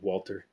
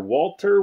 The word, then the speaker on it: Walther: a look at a walther walter walter walter however you pronounce it i say walter this one is borrowed